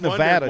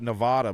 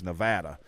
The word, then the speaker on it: Nevada: there I called it Nevada my whole life but it's Nevada is how the people that live there actually pronounce it's Nevada Nevada we